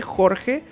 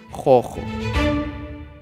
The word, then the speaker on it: Jorge: Por eso, al pronunciar el nombre Jorge, normalmente lo pronuncian Jojo.